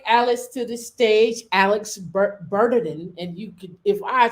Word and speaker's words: Bernardin: So, I pronounce my name Alex Bernardin. If you're French or Haitian, I'm of Haitian descent. So if you're of Haitian descent, you can pronounce it Bernardin, and I'll be very impressed.